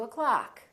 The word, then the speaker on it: o'clock: let's meet at two o'clock so don't say at and o clock reduce the o in the word o'clock let's meet at two o'clock